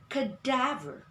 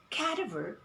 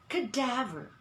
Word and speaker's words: cadaver: today the pronunciation is cadaver cadaver meaning the accent of the word is on the second syllable we do not say caterver what we say cadaver cadaver and the sound